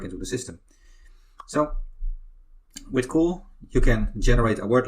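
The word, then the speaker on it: CeWL: can use fantastic tool is called cool but it's spelled differently it's called spelled c e WL so that tool why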